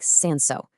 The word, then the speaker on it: Cinsault: It's called Cinsault, and you say it like Cinsault.